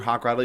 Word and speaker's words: Hochradel: It's just hawk with a rattle, like a hawk with a little rattle.